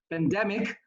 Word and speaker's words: pandemic: The word is pandemic. The stress is on the D, not pandemic. It's pandemic.